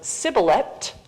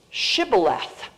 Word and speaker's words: shibboleth: europe among the jews the northern ashkenazic jews pronounced this letter the sheen as an sh and the taub at the end as a th so much softer pronunciation whereas the jews down in spain the sephardic jews this is an s and that's a t so you have sybilette